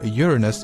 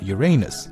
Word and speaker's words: Uranus: both pronunciations are correct, by the way, but as astronomers and most of the scientific community seems to prefer Uranus over Uranus.